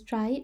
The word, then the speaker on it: trie: question is saying is a try pronounces try or prefix tree is